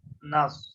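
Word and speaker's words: النَّاس: দি ইহ দিন না নুনের উপরে এই তাসদিটা পড়তে হবে একবারে সওয়াব পড়তে হবে যেহেতু এই আলিফ পরের আলিফ এবং লাম এই তিনটা হরফের উপরে কিছুই নাই কিন্তু সদের উপরে আছে এই কারণে নুন আর সোয়াদ পড়তে হবে মাঝের অক্ষরগুলো উচ্চারণ হবে না তাহলে হবে হচ্ছে নুন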